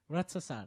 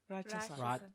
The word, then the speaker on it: Ratsasan: Ratsasan. Ratsasan? That's how you say it, right? Yeah. Ratsasan.